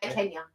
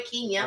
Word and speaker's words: Kenya: to Kenya as they Kenya sorry Kenya apparently Kenya is the right way I've been told is the right way to pronounce it and Uganda then here